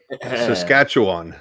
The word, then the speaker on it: Saskatchewan: Saskatchewan. Exactly as you spell it.